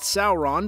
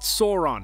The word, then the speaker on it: Sauron: the rings video for the way that i pronounced sauron but i just want to let you guys know that's how you pronounce it it's not sauron okay so sauron is often referred to on lists of the